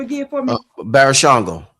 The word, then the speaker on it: Barashango: Pronounce his name again for me. Barashango. Barashango.